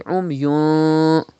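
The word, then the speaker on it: عُمْيٌ: You can see fa after tanween. Fa is an ikhfa letter. Ikhfa will be done and gunna will be done. You have to say umyun.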